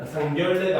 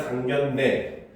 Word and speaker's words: 상견례: 그 다음에 동원령 같은 경우는 동원령, 상견례 같은 경우도 상결례가 아니라 상견례, 횡단로 같은 경우도 횡단로, 이원론 같은 경우도 이원론, 입원료 같은 경우 이런 것도 시험에 잘 나와요.